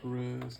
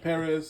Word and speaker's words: Pérez: also modern masters george perez oh george perez sorry this you please excuse me for mispronouncing accent on the e it's pretty simple to